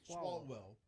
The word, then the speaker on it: Swalwell: Swalwell. Swalwell.